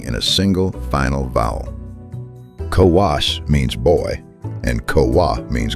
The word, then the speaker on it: ko-wo: Kowas means boy and Kowa means girl, exactly as Greek has them, so how did these 2 turn up on the tablets?